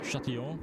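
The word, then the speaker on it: Châtillon: I'm gonna See, it'd be more impressive if you came up with something for Chatillon, but or is it Chatillon? Yeah, Chatillon. Chatillon. It's a double L as a Y sound.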